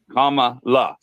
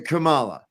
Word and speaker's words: Kamala: got the comma well her name is comma comma La comma La it's so you remember like the punctuation comma the only one named that that pronounces it that way right everyone else in the Indian world named Kamala pronounces it Kamala right but she made sure it was commala yeah she trying to do